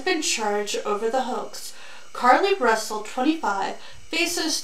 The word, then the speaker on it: Carlee: Today we're going to talk about Carlee. That's how they pronounce every video I've seen of her, so that is what we're going to talk about.